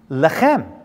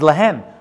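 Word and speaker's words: להם: Lechem. Lechem. It doesn't say that. It says lehem.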